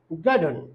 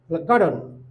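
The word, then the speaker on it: garden: এরপরে আমরা গার্ডেন, আসলে গার্ডেন না, আমরা বলবো গার্ডন, গার্ডন, অর্থাৎ ই উচ্চারণ হবে না, ইউ সাইলেন্ট থাকবে, গার্ডন।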